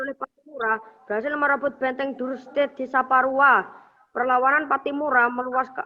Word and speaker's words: Duurstede: benteng DC benteng duurstede tulisannya benteng duurstede bacanya benteng duurstede Bagaimana akhir perjuangan Kapitan